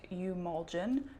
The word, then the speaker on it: Eumulgin: So, I did a haul in my last video where I got Emulgen SG, which is pronounced umen SG.